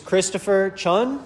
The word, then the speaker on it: Christopher Chun: This is Christopher Chun. Yes, sir. Is that how I pronounce it? Yep.